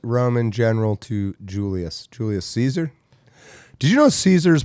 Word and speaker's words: Caesar: that L that's from Caesar was pronounced Kaiser and is it Julius